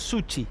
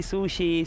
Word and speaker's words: Succi: Pero tu apellido es Suchi. Suchi. Porque no podrías decir... Bocchini, por ejemplo, algunos le decían Bocchini. Bocchini. Vos sos Suchi. Acá me dicen Suxi, Sushi, sí, pero es Suchi.